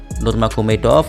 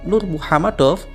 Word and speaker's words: Nurmuhammadov: Nurmagomedov adalah pelafalan yang dilakukan oleh para komentator dan media Amerika Serikat karena sulit sekali mereka mengucapkan Nurmuhammadov di lidah mereka.